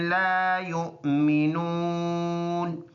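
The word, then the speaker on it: يؤمنون: इधर जब रुकेंगे तो ये वाला ज़बर साइलेंट होगा, ला युमिनून। फुल आयत, फमा लहुम ला युमिनून।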